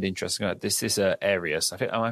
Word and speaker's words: Arius: something i find interesting about this is a arius i think am i pronouncing that right aries aries yes aries yes he ended up being